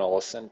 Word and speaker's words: Olesen: Thorbjørn Olesen, is that how you say it? Thorbjørn Olesen, technically. Thorbjørn Olesen. Yeah, I bet you someone from fucking Scandinavia would criticize your pronunciation as well.